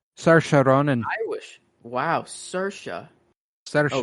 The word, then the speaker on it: Saoirse: Saoirse. S. She's extremely Irish. Saoirse Ronan. Irish. Wow, Saoirse. Saoirse Ronan. I would never have guessed that in 5 million years. I've always just said Swartzy.